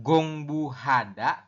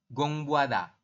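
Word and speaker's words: 공부하다: makasih iya seperti itu jadi bukan bukan gongbuhada tapi gongbada jadi samar ya teman-teman kayak gitu oke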